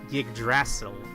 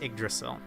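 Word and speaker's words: Yggdrasil: Also, for most of my life, I read this as Gigdasil, more like a Y from the Y, but I've heard in media it's pronounced igdrasil.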